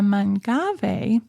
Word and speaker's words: Mangave: And so the Mangave, and that is how you pronounce it. Some people have pretty funny ways of saying that, but anyway, the Mangave's other cross is an agave.